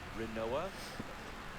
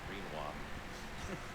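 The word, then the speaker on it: Rinoa: Uh we only get to name Squall and uh Renoa. My brain always wants to read read that as Reinwa. Quinoa. That's my favorite. That's my favorite. Yeah, it rhymes. It's the same.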